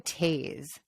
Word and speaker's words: Toews: I think it might be Miriam Toews. Oh, is it? Okay, sorry. It might be because Jonathan Toews, who is spelled the hockey player, who's spelled the same way, is pronounced like that.